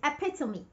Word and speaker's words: epitome: Most people mispronounce this word. They say epitome, epitome of generosity, epitome of kindness, epitome of beauty. No, the word is not epitome. The correct pronunciation is epitome.